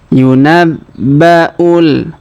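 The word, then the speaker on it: يُنَبَّأُ: Perhatikan huruf ba kita tahan dan tekan karena terdapat tanda tasdid. Yunabba'ul.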